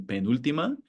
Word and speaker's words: penúltima: We know that the stress falls on the U in penúltima and on the I in sílaba because of the accent mark.